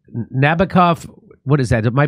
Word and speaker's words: Nabokov: The tricked-out jet earned its Nabokov... What is that? Am I pronouncing that correct? Yeah. Nabokov inspired the author of Lolita.